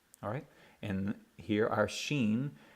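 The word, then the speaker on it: שין: alright and here are Sheen if it the dot is on the right hand side it makes a SH sound okay like shud i should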